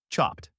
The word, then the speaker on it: chopped: In chopped, the verb chop ends in a voiceless P sound, so the id sounds like a T. Chopped.